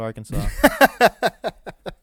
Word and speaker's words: Arkansas: south wind in 1881 the pronunciation of Arkansas with the final s being silent was made official by an act of the state legislature after dispute arose between